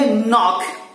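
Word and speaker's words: knock: The second one, next one इज के एन ओ सी के से क्या पढ़ेंगे? नॉक. के साले इसलिए इसको नॉक पढ़ेंगे.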